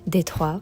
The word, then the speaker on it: Détroit: Détroit is how we pronounce it in French.